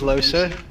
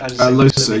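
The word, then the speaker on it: Lohse: Then we met up with Losa, or Los, I don't know how to say it. Losa, yeah, I only said Los because I hadn't heard it audibly, and then I played the solo game, and she says Losa.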